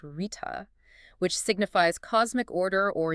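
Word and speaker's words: ṛta: Our next key insight takes us to one of the most foundational themes of the Yajurveda, the profound idea of Rekha, pronounced Rita, which signifies cosmic order or universal rhythm.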